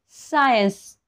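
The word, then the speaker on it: science: सायलेंट असतं आता बघा सायन्स इथे फक्त एस चाच उच्चार इथे फक्त एस चा साऊंड येतोय तुम्हाला सी चा साऊंड येणार नाही सायन्स म्हणजे काय विज्ञान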